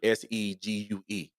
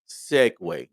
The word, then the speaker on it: segue: We was dealing with that Italian word segue, segue, and we made fun about it being not looking the way it's pronounced.